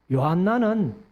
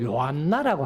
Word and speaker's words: 요한나: 3절, 또 헤롯의 청지기 구사의 아내 요한나와, 그 다음에 요한나는 사실은 이제 요하네스, 요하난, 같은 이름입니다. 같은 이름인데, 요한을 여인이 이제 이렇게 요한이라는 이름을 가질 때에는 발음을 요한나라고 하는 거예요.